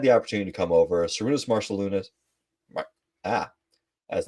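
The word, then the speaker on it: Šarūnas Marčiulionis: Sarunas Marciulionis. Ah, that's not how you pronounce that name. How do you I pronounce think that? I'm pretty close. Cernus, Marcellinus.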